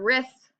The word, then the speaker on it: wrist: listen to the word wrist your wrist it just sounds like r i SS but there's actually a silent W in front of it wrote I wrote a